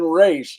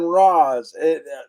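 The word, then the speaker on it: Ra's: They changed the pronunciation of Roz's name. It's been Raish. It's been Roz.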